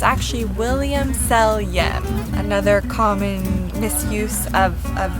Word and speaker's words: Selyem: well people often think even william selium is pronounced william salem or often william sonoma but it's actually william seljen another common misuse of of the winery and